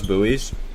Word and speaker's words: buoy: how do you pronounce buoys buoys buoy kind of like you're saying booby but you don't have the other be it's just buoy yeah